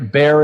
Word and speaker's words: Baer: Jay Baer books and a beer bear is spelled ba er yep so you and